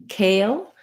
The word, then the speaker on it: kale: helpful for you then when it comes to kale this letter a says the diphthong a uh that's a typical spelling where we have if we have a silent e at the end then the letter will say its name uh this is true